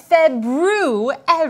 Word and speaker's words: February: month we are currently in oh the proper pronunciation for the second month of the year is February I know that because of let's see not